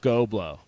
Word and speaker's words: GHOBLO: company's GHOBLO, Go Blow. And that's what we'll call it. It'll be very high end, very tasteful. Go blow with GHO.